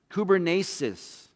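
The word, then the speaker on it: κυβέρνησις: is this little greek word called that that's pronounced kubernesis and it literally means to pilot a ship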